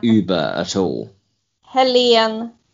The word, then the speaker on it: Helene: Helene like Helen, but Helene. Helene.